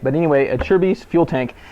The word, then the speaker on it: Acerbis: about an NES and that's what it's called a Cher's a lot of people don't know how to say the name right but anyway a Cher's fuel tank it's an